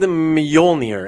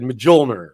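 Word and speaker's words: Mjölnir: And the J silent letters, Y's, and all that stuff, whatever.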